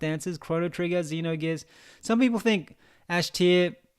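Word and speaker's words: Xenogears: of these games Chrono triger Zeno gears or Zeno gears is how you pronounce it and near UTA asht or Luca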